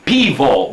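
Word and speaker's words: пиво: This says, there's an N, a backward N, a B, and an O. And that is really supposed to be pivo, because the little N-looking thing is a P, the backward N is an I, the B is a V, and the O is an O.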